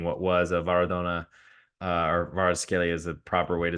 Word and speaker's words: Kvaratskhelia: to potentially getting what was a Maradona or Kvaratskhelia is the proper way to say his name,